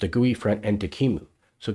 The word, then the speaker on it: QEMU: gooey front end to Kimu so Kimu is spelled qemu and it's the software